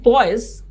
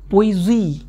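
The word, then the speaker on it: poise: ये क्या है भाई इसे कहते हैं पोइजी। हो सकता है मैं गलत बोल रहा हूं, मेरी फ्रेंच प्रोनाउंसिएशन बहुत ही बेकार है क्योंकि मुझे फ्रेंच नहीं आती है तो इसको हम लोग तो पॉइजलीस पढ़ते थे बचपन में जब हम आपके एज के थे, लेकिन इसे एक्चुअली पोइजी कहा जाता है।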